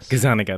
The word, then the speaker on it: Gazzaniga: PhD student and I don't know how to pronounce his name is it Michael Gazzaniga Gazzaniga that's right working on split brain patients how